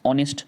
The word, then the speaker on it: honest: In the same way, a word which begins with an H, sometimes we don't pronounce the H. Like in this case, honest, R.